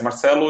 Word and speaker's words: Marcelo: Marcelo can be Marcelo. For example, the people from Spain will say Marcelo. Okay. But how do you say it? Marcelo, yes. Marcelo is the correct pronunciation.